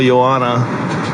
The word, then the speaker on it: Joanna: johana I love you don't call her Johanna then call Yanna Yanna yeah it's no h there's no age everybody pronounces it differently